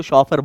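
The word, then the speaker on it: chauffeur: जाओ डिक्शनरी को कंसल्ट करो और सुनो, लिवरीड शॉफर, इसको शॉफर बोलते हैं।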